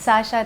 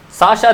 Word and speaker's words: Shashaa: name what which is the right way to pronounce it's Sasha Sasha okay anyway to bear with my English